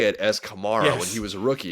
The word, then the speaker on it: Kamara: Alvin Kamara, he doesn't care how people pronounce his last name. Why should I? I know he's not going to correct people. It's Kamara versus Kamara.